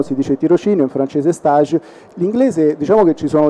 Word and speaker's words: stage: avete utilizzato durante lo stage allora una premessa linguistica come avrete sentito io parlo di stage parliamo di stage forum la pronuncia e alla francese note lo pronunciava all'inglese in realtà è sbagliato stage vuol dire un'altra